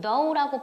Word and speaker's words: though: 그래서 조심하셔야 되는데 이건 thought가 아니고 though라고 발음하고 though 앞에다 a,를 붙여서